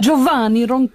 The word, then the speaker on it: Giovanni Roncalli: Can you just pronounce my name again, the middle bit? Giovanni Roncalli.